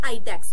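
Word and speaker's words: iDEX: Exactly आईडीईएक्स, थोड़ा अजीब सा नाम है लेकिन इसका प्रोनाउंसिएशन हो जाएगा आराम से आईडेक्स।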